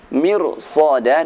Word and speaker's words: مرصادا: Mirsada dan labil mirsad dibaca dengan tebal walaupun sebelumnya ra berupa kasrah.